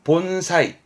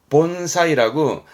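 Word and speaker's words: 盆栽: 시험적으로는 이걸 아셔야 돼 분재 분재 심을 제자인데 발음은 본사이 본사이라고 분재 있죠 그러니까 나무 심어 놓은 분재 그거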